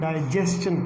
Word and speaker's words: digestion: अब आपने माइंड में रखने ये बात, ये वर्ड पहला जो था वो क्वेश्चन पढ़ा जाता है, दूसरा जो वर्ड था उसको हम पढ़ेंगे सजेस्टन, और तीसरा जो वर्ड है उसको डाइजेस्टन पढ़ेंगे। तो ये इसकी सही प्रोनाउंसिएशन है और उम्मीद है कि